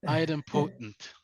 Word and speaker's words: idempotent: Did I pronounce that correctly? Adam potency. No, you good? Yeah. Close enough. Idempotent. There you go.